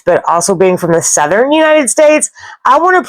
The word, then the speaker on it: Southwark: It looks to me like Southwark. They say this word more like southern.